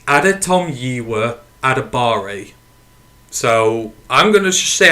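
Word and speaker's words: Adetomiwa Adebawore: talking about Northwestern d-linemen so that how you pronounce his name it's Adam yiwa adabari so I'm going to stay at a bar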